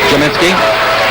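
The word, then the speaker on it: Gminski: first year from jamitzky is Du product Mike jinsky spelled g m i NSK k i pronounced j u m i n s k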